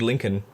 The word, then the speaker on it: Lincoln: I mean, to be fair, link Lincoln is not spelled the way it's it's said.